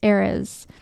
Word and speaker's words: Ares: As I mentioned, Mars is the Roman name for this god, and the Greek name was Ares. Ares is how it's spelled. Very close to Aries, but I think pronounced a little differently.